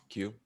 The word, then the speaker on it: queue: that they appear what data structure is that q yep which is spelled q u e u e and it's